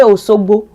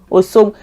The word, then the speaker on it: Osogbo: to Oshogbo, you see, even people from Oshogbo don't say Oshogbo, they say Osogbo, Osogbo. They don't have the she. It is in Oyo that the she is present. Is si.